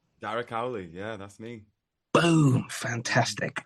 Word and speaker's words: Darragh Cowley: I wrote it down phonetically how I think it sounds. Is it Darragh Cowley? Darragh Cowley, yeah, that's me.